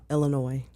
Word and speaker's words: Illinois: The S is not pronounced. It's silent. It's silent. So it's Illinois.